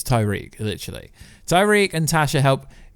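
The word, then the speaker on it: Tariq: It's Tyreek, literally.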